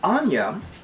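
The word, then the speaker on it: Áine: as aini uh but i like to pronounce it anya anya is a goddess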